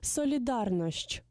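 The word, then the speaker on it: solidarność: А слово «солідарність» польською мовою буде «солідарнощ». Повторимо ще раз. «Солідарнощ». Зверніть увагу на вимову і правопис цього слова.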